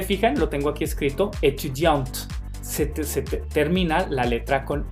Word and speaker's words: étudiante: Esa E no se pronuncia, hace que la letra anterior sí se pronuncie, la T, pero la E no es étudiante, es étudiante.